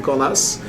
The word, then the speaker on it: Cornas: Up to Cornas, in Cornas, you pronounce the S in Cornas, and just 10 kilometers